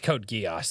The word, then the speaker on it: Code Geass: Code Geass is Code Geass. There's no other way I could say it. That is how you pronounce it.